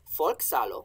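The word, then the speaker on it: folcsalo: So, folksalo, folk means folk. It's just spelled with a C instead of a K.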